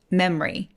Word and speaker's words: memory: 노래해 볼까요 메모리도 마찬가지인데요 습관적으로 중간에 있는 5를 없애고 소리 낼 때가 되게 많습니다 그래서 메모리 메모리 해도 되기는 하는데 보통은 memary memory 이렇게요 m에서 ry로 바로 가시는 거예요 다시 한번 해볼까요 이번엔